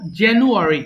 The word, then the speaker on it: January: জানুয়ারি, না, ফেব্রুয়ারি, আটা বড় হয়ে যাচ্ছে, আটা বড় হবে না, আটা ছোট বলবা, জানুয়ারি, আটা উচ্চারণ একেবারে কম করবা, আবার বলো।